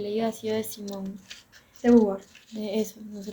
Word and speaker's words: de Beauvoir: De Beauvoir. De eso, no sé pronunciar eso. Gracias. Simón de Beauvoir.